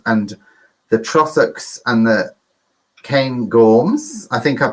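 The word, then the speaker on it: Cairngorms: it's loch lomond and the trossocs and the kane gorms i think i pronounced that okay didn't i duncan yeah thank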